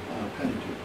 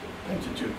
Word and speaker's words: Pentateuch: And he preached from the Septuagint and from the Pentateuch.